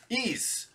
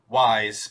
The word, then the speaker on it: Ys: next up we've got ease um hoping i'm pronouncing that correctly i think a lot of people mispronounce it with wise but i think it's ease this is the third